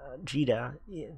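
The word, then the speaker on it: Djeeta: for gran and vegeta geeta the d is silent it's not too cheetah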